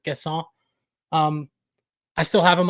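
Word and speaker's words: Guessand: Um they brought in Evan Gesson. Totally pronounced that wrong. It's probably closer to Gasson.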